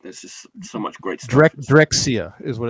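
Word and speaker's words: Drexciya: just so much great directxia is what it's called Clifford is asking in the chat yes yes could you spell it I can't read that d-r-e-x-c-i-y-a drexia that's it I always feel like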